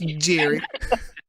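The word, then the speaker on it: Geri: well I'm g-e-r-i I know it sounds like but it's pronounced Jerry uh who are y'all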